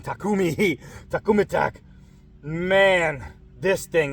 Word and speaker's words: Takumi: make sure it wasn't a fluke man whoa Tamika tumaki to keep saying it wrong takumi takum attack man this thing is so nice